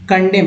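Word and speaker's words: condemn: कंडेम, यहाँ am silent है।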